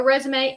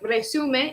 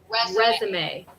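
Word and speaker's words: résumé: It looks like resume if you speak Spanish, or resume, the verb in English, but we actually pronounce it like resume. Resume. So it's a little different pronunciation here.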